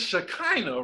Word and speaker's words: Shekinah: real friend but yeah it's shekinah rhymes with vagina that's a good way